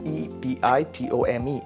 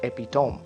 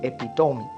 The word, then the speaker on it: epitome: manner the next word would be epitome it's e-p-i-t-o-m-e it's not epitome it's epitome right epitome the next one here is s-a-i-d